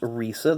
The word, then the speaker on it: Risa: Yeah, it looks like it says Rice, but it's pronounced Risa. That would be Lake Speed's wife.